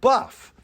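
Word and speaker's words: bœuf: So they called it buff. In French, you spell that B-O-E-U-F, which basically means ox or any kind of beef animal.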